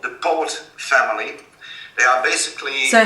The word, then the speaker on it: Poot: It's called the Poot family. They are basically... So how do you spell that?